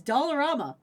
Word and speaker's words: Dollarama: It's Dollarama.